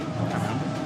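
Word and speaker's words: Paname: Panam. Panam makes me think of Pan American. Pan. The end is silent.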